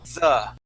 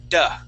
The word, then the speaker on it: the: Okay, so when you were reading through here, you were saying duh. Okay, using a D sound. So for example, when you had also with the word den. Okay, so you came through and you had said, which is more than. She could say for the other. Okay, with that th as well.